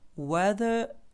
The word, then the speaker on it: weather: is a weather is в слові weather в нас є оця комбінація буквосполучення іа яке в ненаголошеній позиції не читає буква р не чується не читається але якщо наступне Слово починається на голосну то тоді ця ри чується і вона ніби як чіпляється до того наступного слова яке починається на голосну тому це буде weather is weather is pleasant